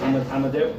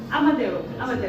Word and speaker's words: Amadeu: I can't pronounce it. What is it? AMADEU? AMADEU.